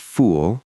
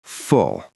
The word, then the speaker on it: full: But it's actually a shorter, rounder sound, like the vowel in foot or pull. It's quick, full, not fool, full.